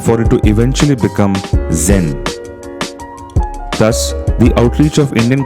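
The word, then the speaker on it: 禅: prefectures as well and guess how the japanese pronounce the word chan gen or zen that's right this is how over time zen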